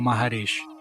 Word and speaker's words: Maharshi: Mas esse não foi o caso de Ramana Maharshi, que também pode ser pronunciado como Maharishi.